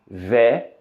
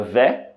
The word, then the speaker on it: vais: A e I na palavra vais, ok? Que significa, que tem o som de E, ok? As letras A e I juntas tem o som de E, ok? A letra S, ela não é pronunciada, ok?